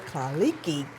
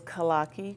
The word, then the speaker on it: Kaki: is Dr Kiki girl did I say it right did I mess it up cuz you know I do mess up people name say it for me it's Kaki Kaki yes you should have your